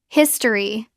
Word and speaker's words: history: It looks like familiable natural pronunciation. We often drop the middle I. It becomes family. Two syllables.